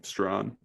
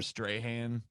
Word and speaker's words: Strachan: Strawn. Michael Strawn. Yeah. Look good too. It looks like Strachan. Yeah, I know. Or Strahan. Yeah. But it ain't.